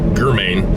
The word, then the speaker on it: German: looking for a suspect spelled german g-e-r-m-a-n but apparently he pronounced it germain but he was stabbed